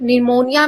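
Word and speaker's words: pneumonia: Then knowledge में के honour में एच काम में एल फिर निमोनिया में यह पी जो है वो साइलेंट होता है।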